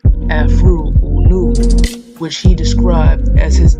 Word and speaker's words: Afroo: All of the books in this series he published using the pen name Afroo, pronounced Afroo Oonoo, which he described as